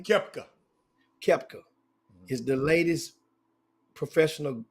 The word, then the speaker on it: Koepka: Your guy Brooks how you pronounce his last name? Koepka.